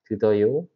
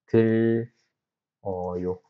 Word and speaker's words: 들어요: So 듣 어요 is difficult to pronounce, so it changes to l. 드더요 becomes 들어요, which means I listen, they listen.